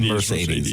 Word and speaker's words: Mercedes: You remember Mercedes? Is that how you say it? Mercedes, yeah.